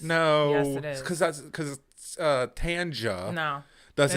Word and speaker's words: Tanja: Because Tanja No. doesn't It's the suggest. same shit. No. I don't give a fuck. No, It's no. the same shit. Tanja does Nope.